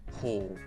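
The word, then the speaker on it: 方: in direction, for example, usually it is ho and u, ho u, which becomes read as ho.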